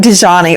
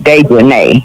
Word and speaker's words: Dejanay: It looks like Dejani or Dejanay. Her name is Dejanay. Yeah, That's it. It's Dejanay because it's got A-E on the end.